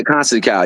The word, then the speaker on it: Conceição: Yeah, Conceição.